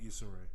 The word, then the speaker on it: Issa Rae: Oh, Issa Rae. Yeah. Issa Rae. Yeah. Issa. Itza. Like Issa, like pizza.